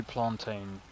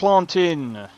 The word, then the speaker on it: plantain: You did not just say plantain. Yeah, that's not how you pronounce it. It's plantin. Not plantin. You're English. It's not English. That's even how the Jamaicans say it. They call it plantin.